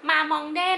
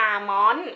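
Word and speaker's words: Mamonde: แต่ เ ได้ มานะ มาอง เด้ นั่น เอง เอ้ย เค้า อ่าน ว่า อะไร นะ เค อ่าน ว่า มามอน เออ มามอน นั่น เอง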